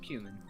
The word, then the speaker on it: cumin: of a shark with a dazzling sprinkle of cumin. There you go. A shark human. Oh, that's how you pronounce it. Charcuterie? No, human. Oh, cumin, yeah.